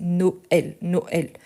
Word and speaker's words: Noël: On a vu très récemment, c'était la fête de Noël, donc on avait Noël, et ici vous voyez que le et, il est bien prononcé, Noël.